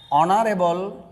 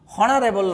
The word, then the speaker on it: honourable: যেমন হি ইজ অ্যান অনারেবল, হনারেবল না, অনারেবল, HONOURABLE, অনারেবল ইজ অ্যান অনারেবল teacher, তিনি একজন সম্মানিত শিক্ষক।